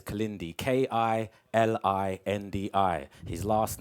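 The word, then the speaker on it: Kilindi: Or if you've got a photographic memory, please remember it is spelt K-I-L-I-N-D-I. That is Kalindi.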